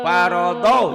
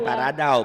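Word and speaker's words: فَرَضَ: Qad paradaulah Parodo, jangan paradau, parodo, do.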